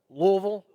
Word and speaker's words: Louisville: Born in Louisville, Kentucky, or is it Louisville? Which is it? Louisville? I was always told it's like one long syllable.